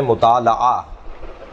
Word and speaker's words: مطالعہ: کتاب کا پڑھنا اگرچہ صحیح تلفظ ہے مطالعہ، مطالعہ، مفاعلہ، مقاتلہ، مناظرہ، جی مقابلہ، اس وزن کے اوپر مطالعہ، لام پر زبر ہے، لیکن معمولاً ہمارے یہاں